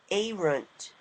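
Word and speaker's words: ērunt: your chart e ISTE it amos is this a runt the e is the I is pronounced e because it is a long I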